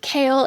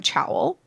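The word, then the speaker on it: Chaol: a comment that said, "I won't fall for Kale simply because I don't know how to pronounce his name." Because at the beginning, I think I was literally calling him Chowel.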